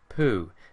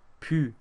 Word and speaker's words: pu: This is not pu, it's a tight, pursed-lipped pu sound.